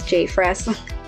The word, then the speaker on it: JPHRES: p h r e s i'm just gonna pronounce this j fresh is open access to the public so all